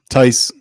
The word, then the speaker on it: Tice: Tice rhymes with dice.